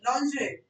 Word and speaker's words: lingerie: The pronunciation is lingerie.